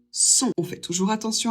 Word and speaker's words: son: O et N, ça fait toujours on, donc on prononce le possessif masculin singulier son.